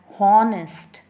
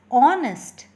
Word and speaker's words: honest: don't say it as honest we say it as honest all right so honest here is resulting in a vowel sound at the beginning so the edge is